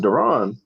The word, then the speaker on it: Duron: yeah yeah yeah yeah you said Darren who who's there my name is Duron oh I'm sorry I pronounced it wrong no that's not good